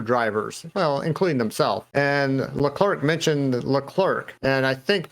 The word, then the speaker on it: Leclerc: to other english people if he was talking in his native language french he would probably say leclaire i took french a couple years in canada and that's how i would have pronounced it in french but since we're speaking english and his other drivers call him leclerc we'll do that the other person that